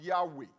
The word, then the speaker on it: Yahweh: The Hebrews pronounce it as Yahweh.